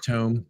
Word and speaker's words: Tome: Probably Tome. It's Tome. Because I play lots of video games, and it's definitely Tome. Tome.